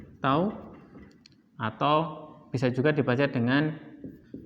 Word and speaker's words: tau: Ini adalah tau, bacanya tau, atau bisa juga dibaca dengan torsi.